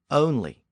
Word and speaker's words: only: And that pronunciation still survives in lots of variations of that word, like the word only. Only is literally onely, but it retains its original pronunciation from early modern English.